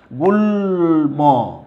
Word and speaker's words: গুল্ম: তাইলে তুমি দেখো ল এর সাথে যদি মফলা যুক্ত থাকে তাহলে কি হবে না? তাহলে ময়ের উচ্চারণও কিন্তু অবিকৃত থাকবে, এটা চেঞ্জ হবে না। ওকে, তাহলে আমরা একটা উদাহরণ দিই। তুমি দেখো গুল্ম, গুল্ম।